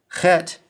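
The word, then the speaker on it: ח: Ket sounds like the ch in the German word bach pronounced back in the throat with the guttural sound.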